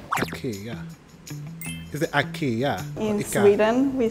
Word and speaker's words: IKEA: so it becomes English is so we say Ikea or when we speak English but that's not how you pronounce it yeah that's true I know that